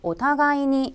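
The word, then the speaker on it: お互いに: 자 , 이제 일본어 발음 으로 읽어 보겠습니다 . " 오타가 이니 " 라고 읽으면 한국어 에서 " 서로 " 라는 뜻 의 부사 입니다 .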